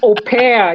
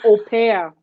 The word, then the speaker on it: au pair: It's au pair. You pronounce it as au pair.